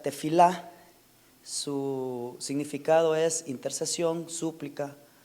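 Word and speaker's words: תְּפִלָּה: La oración, según el Strong, es la palabra 8605, que se pronuncia tefilá.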